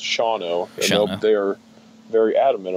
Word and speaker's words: Shawano: It looks like Shawano, but it's pronounced Shawano.